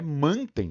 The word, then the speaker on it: mantém: perceber que a palavra a pronúncia natural dela é mantém né mantém nosso cobertor mantém